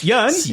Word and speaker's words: Jörn: Yeah, Jörn is fine. I know it's hard to pronounce. Like Ian, but Jörn.